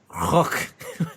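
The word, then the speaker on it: Rukh: And according to Filoni, Timothy Zahn said that it's pronounced Rook.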